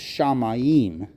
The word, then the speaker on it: shamayim: heavens and the Earth the word for Heaven is shamayim which is a dual noun in Hebrew that means you have to pronounce the I as a hard vow um Nephilim is the